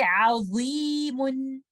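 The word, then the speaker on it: عظيم: So you will say azimun, azimun. If I don't make my back of the tongue up, the sound will be like this. Azimun.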